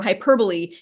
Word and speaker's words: hyperbole: Another thing I like, I just remembered, was when on the page for hyperbole, you have a little note about the pronunciation of it, because if you look at that word, it says hyperbole.